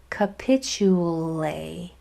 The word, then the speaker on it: capitulate: This TU says chew again. Chew. 2 words right in a row, same rule. What are the chances? That's good luck right there. And then this A says A, because of the tap 2 rule, the E is silent.